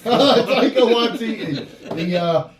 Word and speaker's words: Taika Waititi: Taika Waititi? Taika Waititi. That's Taika Waititi.